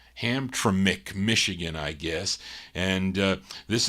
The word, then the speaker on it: Hamtramck: Is it Hetramic? No, can never pronounce this, Charlene's got to be phonetically, or I'm going to butcher this thing.